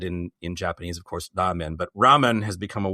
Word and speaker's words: ramen: We like ramen a lot. You're going to hear me pronounce this a couple of different ways.